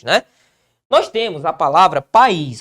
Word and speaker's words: país: Nós temos a palavra país, ó.